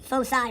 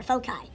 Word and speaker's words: foci: Or both of them, foci or foci. It's pronounced either way.